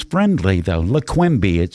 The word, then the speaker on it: Leqembi: Maroon, correct me if I say it wrong. Leqembi? Is that correct? That's correct. Leqembi, K-E-M. Leqembi.